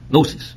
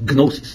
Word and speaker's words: gnosis: was called is called gnosis with the g because in greek it's gnosis in english the g is silent now um so far